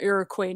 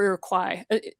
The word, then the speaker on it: Iroquois: a part of the Seneca tribe and the Iroquois nation. So, or Iroquois. This is where pronunciation is ticklish for me because I've learned English so many different ways.